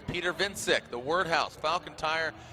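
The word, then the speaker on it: Więcek: Just, I mean, you know, phonetically his name is he's Polish, so it looks like Wojciech, but it's pronounced Vincic.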